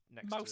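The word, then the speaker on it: Maus: One of the greatest graphic novels ever created, but Mouse spelled like M-A-U-S.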